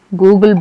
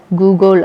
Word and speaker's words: googol: 10⁻100 கூகுள் அப்படின்னு சொல்லி அழைக்கிறோம். கூகுள் இல்லை, கூகுள். ஓகேங்களா. GOOGOL. ஓகேங்களா.